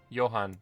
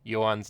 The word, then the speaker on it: Johan: is not far off how people at the office pronounce my name after they've learned the H is silent and Yuan Yan yuhan wait okay I